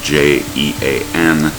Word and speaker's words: Jean: It's the French version of John. It's spelled j e a n. Uh in French it's Jean.